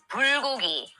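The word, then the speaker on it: bulgogi: Not goaru. It's bulogi.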